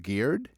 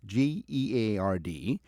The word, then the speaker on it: geard: The word garden comes from the Old English, I think it's pronounced geared, Geard, meaning fence, enclosure, or courtyard.